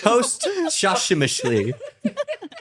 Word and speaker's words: posthumously: You turned it into 2 words. Posthumously. Oh, I knew how to say it. I just want everyone to know that we're just regular people too. There was a word. Posthumously. Guys, that's how you say it. You turned 1 word into 2.